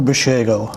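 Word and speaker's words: Basiago: tell us a little bit about that andrew bashego okay it's spelled b-a-s-i-a-g-o and he was he's a real-time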